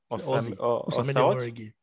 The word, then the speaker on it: Osamede Omoregie: if you know how you pronounce the name. Osamede Omoregie.